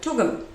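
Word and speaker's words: Tugun: We live in Tugum, which rhymes with Blugum, which is BLGM if you try to say it.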